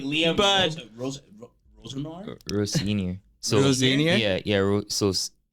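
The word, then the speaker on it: Rosenior: Row senior. So Row senior? Yeah. So senior, row senior. I thought it was like Rosenwa. Row senior.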